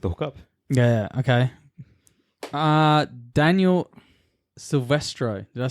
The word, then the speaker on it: Silvestro: do they pronounce it? That's what I want to know. It is literally just Silvestro.